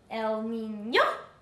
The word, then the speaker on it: El Niño: My first single is El Niño, and El Niño, that's how you say it.